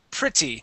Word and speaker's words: pretty: this word here uh instead of saying pre pretty pre we say PR pretty so that e that e in the middle there is actually a short I sound okay and this Double T okay will actually make a D sound so we say pretty